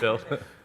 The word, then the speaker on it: Buidl: That's how I'll pronounce it. Build.